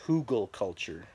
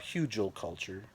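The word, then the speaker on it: Hügelkultur: you to know that it's pronounced hugelkultur not huge old culture I mean that mound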